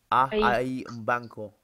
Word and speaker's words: banco: right on yeah so the second word it's pronounced a I banco which by a bank I am your banco